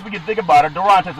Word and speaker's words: Durantes: Now, Durantes, when you think about it, Durantes is the name, proper pronunciation, making her the first Latina to fill that role in the NFL.